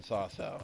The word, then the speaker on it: Sasau: Oh, I am going in Sasau.